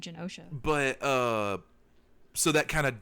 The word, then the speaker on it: Genosha: I have no idea how to pronounce that country name, but Genosha, I think. Yeah, I've always said Genosha, but so that kind